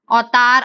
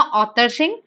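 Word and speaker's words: अवतार सिंह: अवतार, अब ये ना वैसे अवतार होएगा मेरे अकॉर्डिंग ना, पर बुक्स में ऑथर लिखा हुआ है, तो अब प्रोनाउंसिएशन हिस्ट्री जिन्होंने लिखी है उनका हो सकता है।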